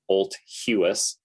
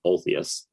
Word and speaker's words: Olthuis: US or Canadian sounding Olthuis. Yeah, it's a cool name. Yeah, it's interesting. It actually means old house. Yeah, sounds like old house.